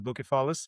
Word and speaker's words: Bucephalus: Oh, yes, so the book is called Bucephalus' Shadow and it's spelled b u c e, not k, the the way the the Greeks call it is Bucephalus and it's a Bucephalus